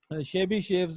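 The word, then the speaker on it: Chebyshev: उसके नाम पे है शेबी शेव्स इनइक्वालिटी। इसको प्रोनाउंस मोस्टली शेबी शेव करते हैं।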